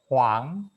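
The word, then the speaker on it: 黄: Ini huang ya bacanya huang, huang, bukan wang ya. Kalau wang pakai u, kalau ini huang.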